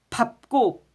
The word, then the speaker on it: 밟고: 그러면은 밥고 밥고 발발발발 이게 아니라 발고가 아니에요. 발고가 아니고 아빠빠 그러니까 밥고 밥다 발다가 아니에요. 밥다 이렇게요.